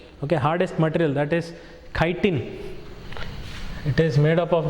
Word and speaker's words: chitin: It is made of chemical called chitin, CHITIN. It is not chitin, wrong pronunciation. Correct pronunciation is chitin.